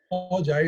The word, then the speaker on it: Joya: Joya is how you pronounce it, and Joya in Spanish means jewel, like a jewel for your finger.